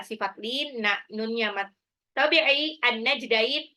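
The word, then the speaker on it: النجدين: Hadainahu, dainya ini adalah sifat lin, nunnya mat tabi'i, an-najdain, alif lam samsyah, alif lamnya nggak dibaca. Ya, karena langsung lebur ke nun tasdid di gunnah.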